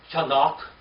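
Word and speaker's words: חנוך: Remember what Enoch means? It's Chanach. That's how you say it in Hebrew. It's Enoch in English.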